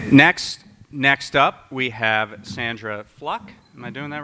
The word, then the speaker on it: Fluke: Just because it seems to be a source of consternation, it's Sandra Fluck. It rhymes with look.